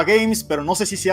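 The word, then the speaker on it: Gámez: Games, pero no sé si se ha dado cuenta de que esa Z al final hace que se pronuncia Games en realidad.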